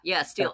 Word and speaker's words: stele: Is it pronounced steel? Yeah, I think so. Yeah, steel. STELE. Yeah, I think so. Okay, I don't know why I've always said stelae.